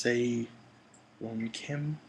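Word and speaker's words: Sae-ron Kim: from nowhere i believe her name is pronounced say wong kim she is uh amazing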